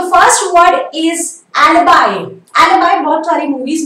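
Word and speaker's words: alibi: इसका correct pronunciation एलिबाई है।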